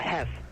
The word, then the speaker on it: Hess: It's called a hemp station? A Hess. Hef? Yeah. How do you spell that? H-E-S-S.